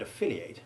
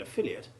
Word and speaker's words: affiliate: For example, whereas the stressed endings of the verbs estimate and affiliate have the long A1 sound, the unstressed endings of the nouns estimate and affiliate are not lengthened by the final silent E.